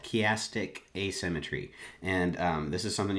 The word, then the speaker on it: chiastic asymmetry: go ahead would you mind explaining how to pronounce what it is you're going to be talking about elastic asymmetry chiastic asymmetry okay and this is a way a method